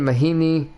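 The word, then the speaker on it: Mahinmi: jabari parker doug mcdermott tyus jones uh ian mahini yeah that's how you say it and lugence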